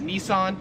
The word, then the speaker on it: Nissan: So we would pronounce this in America as Nissan. However, here in Australia it is pronounced Nissen.